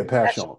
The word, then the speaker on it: Passyunk: Yeah, Passyunk.